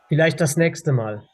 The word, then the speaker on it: Vielleicht das nächste Mal: The CHS is pronounced like an X.